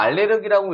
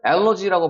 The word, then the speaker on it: allergy: 그리고, 요 단어 같은 경우도 여러분, 이거 우리가 알레르기라고 읽지만 실제로는 allergy라고 발음하기 때문에 발음이 굉장히 다릅니다.